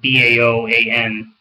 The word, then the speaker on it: Bao'an: That's spelled B-A-O-A-N, Bao'an. But anyway, the success in